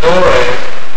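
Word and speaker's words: dowr: The generation is the Hebrew word door, D-O-W-R, and pronounced dore, and it means a revolution, a time, i.e.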